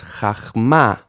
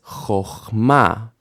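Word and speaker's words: חָכְמָה: So, if you read this word, it might look like it says chachma, final stress, chachma, right? But it doesn't. It actually says chochma, chochma, because this syllable, which would be chach, is closed, right? Ch ends with a consonant, chach, but it is not stressed, chachma. So actually this kamatz will change to an O, chochma.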